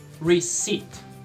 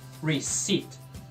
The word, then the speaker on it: receipt: Receipt. Aqui tem um P mudo que não é pronunciado. Receipt. Não fala o P. Receipt.